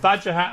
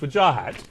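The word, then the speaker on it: Wajahat: it and you told me how your mother pronounces it we finally got there after a year of vajah hat and wajah hat it's with Jah hat and I apologize right A for effort so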